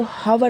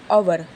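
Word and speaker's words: hour: आवर बहुत लोग इसको हवर पढ़ते हैं। यहां पर भी एच साइलेंट है। यहां पर शुरुआत तो एच से है बट हमने प्रोनंसिएट किया है अवर। अवर तो अवर से हमने स्टार्ट किया है यानी कि प्रोनंसिएशन अ से स्टार्ट हुआ है।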